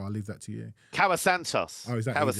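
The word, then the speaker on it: Kauã Santos: And they're playing a Brazilian whose name I can't pronounce and won't try. I'll leave that to you. Cawa Santos.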